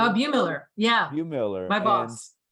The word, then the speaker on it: Bumiller: Am I pronouncing the name correctly? Bumiller, yeah.